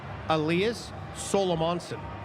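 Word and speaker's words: Elias Salomonsson: this right because I asked him how to pronounce it, Elias Solomonson.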